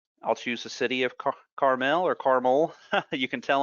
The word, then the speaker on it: Carmel: So We say it Carmel around here.